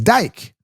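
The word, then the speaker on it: Dike: I don't see a C. I don't see an A-Y. His name is not DK. It's Dyke.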